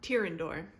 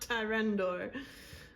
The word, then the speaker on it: Tyrendor: Oh, Tyrendor. Not Tyrendor.